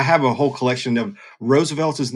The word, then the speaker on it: RSVLTS: So, um I I have a whole collection of Roosevelts is the name of the company, RSVLTS, um pronounced Roosevelts.